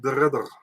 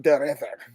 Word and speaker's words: de Ridder: Reinier de Ridder. Reinier de Ridder.